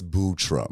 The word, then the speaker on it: Buttram: And it's Buttram spelled like Buttram, I know, but it's Buttram. Oh my God. It's a sophisticated pronunciation of the word.